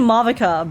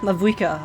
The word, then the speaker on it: Mavuika: name to ma maava is it AA or is it mava cuz I keep saying mava but I feel like that's incorrect pronunciation why does pon sound